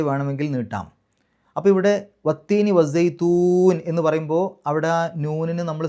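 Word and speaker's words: وَالزَّيْتُونِ: അതിന് തൊട്ട് മുമ്പ് നീട്ടലാണല്ലോ, സൈത്തൂ എന്നുള്ള ആ ഒരു നീട്ടലാണ്. അപ്പോൾ നമ്മളായിട്ട് സുക്കൂനിട്ട് ഒരു പാരായണം അവിടെ അവസാനിപ്പിക്കുന്നു, അതിൻ്റെ തൊട്ട് മുമ്പ് നീട്ടലാണ്. ആ നീട്ടൽ 6 ഹർക്കത്തിൻ്റെ ദൈർഘ്യം വരെ നീട്ടാം. അതാണ് മദ് ആരിദ്.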